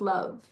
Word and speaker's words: LOVB: of all the players like it's pronounced love they probably posted it